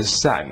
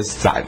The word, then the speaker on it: 散: 的功能，你与其念作四声的散呐、啊，不如念成三声的散算了。